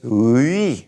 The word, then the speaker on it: oui: Now you got a UI together. It's oui sound.